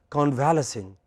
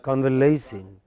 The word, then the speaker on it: convalescing: or the second language, we pronounce it as convalescing. It is not convalescing. What is the correct pronunciation of this word? Look up your dictionary. Come on, quick. I give you exactly 20 seconds. I want to see who does it first. Be careful. Yes. Yeah, convalescing. What is it? What is it? But when you pronounce it as convalescing, what do people understand you are talking about?